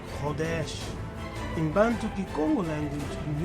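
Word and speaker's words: חודש: The Hebrew word for the new moon and month is pronounced Chodesh. Chodesh.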